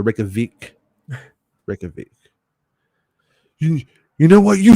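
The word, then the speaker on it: Reykjavík: Vic is pronounced like Veek, like weak, but with the V. So Reykjavik.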